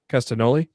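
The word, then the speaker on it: Castagnoli: tyler uh tyler black nigel mcginnis brian danielson and claudio castanel how do you say that his last name cast in castaneda castanoli yeah yep so uh black casted only mcginnis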